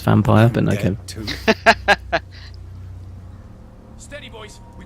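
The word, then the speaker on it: Vampyr: what does it mean it's pronounced vampire but to steady boys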